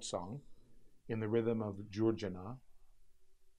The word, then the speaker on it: Curcena: in the rhythm of Georgina, spelled C-U-R-C-E-N-A. And the reason why it's spelled C-U-R-C-E-N-A, because in Turkish, C's are pronounced as J, Georgina.